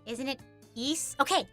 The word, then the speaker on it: Ys: We had it during one of the trails streams cuz I I used to always read it as Ys, but it's not. Isn't it east? Okay, ease.